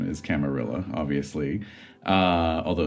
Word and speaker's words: Camarilla: make an argument that it would should be pronounced camaria but yes a German started German created camarilla hello so it's pronounced camarilla and then the whole saat thing I don't